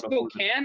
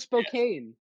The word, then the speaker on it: Spokane: It's Spokane? I thought it was Spokane. It's Spokane. It's Spokane. Oh, Washington's so weird.